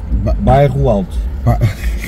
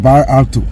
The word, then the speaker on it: Bairro Alto: But you guys pronounce it Bairro Alto. I'm gonna struggle with that. Bairro out. Bairro Alto. Bairro out. Yeah. I thought it was like Bar Alto. You know, like I see the ALTO.